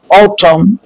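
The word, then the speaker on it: autumn: एम के बाद आने वाला एन साइलेंट होता है, जैसे ऑटम, कलम।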